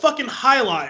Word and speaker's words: Jai Alai: a balls like oh it's High Line I never realized I've never put two and